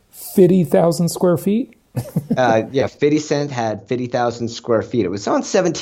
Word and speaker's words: 50 Cent: so first of all you got to say it right it's fitty cent feet insane fitty cent and so yeah cuz